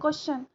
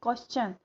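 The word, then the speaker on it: question: करते हैं, चन को नहीं बोलते हैं, शन ही बोलते हैं. जैसे क्वेश्चन, डाइजेशन, सजेशन. क्योंकि हमारे टीचर्स भी यही बोलते थे, बट इट इज़ रॉन्ग, ये गलत है. वो चन की उसका जो उच्चारण है, जो ध्वनि है लास्ट में, वो चन का आना चाहिए. क्वेश्चन, सजेशन, डाइजेशन, कंजेशन. तो ये आपको याद रखना है.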